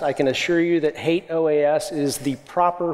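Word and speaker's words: HATEOAS: a lot of capability I'm going to include hate OAS I know some people pronounce it differently those people are wrong I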